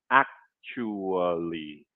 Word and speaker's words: actually: All right, I know you see a ch there, and that looks weird, but that's the sound that comes out when we pronounce the word actually, actually, actually.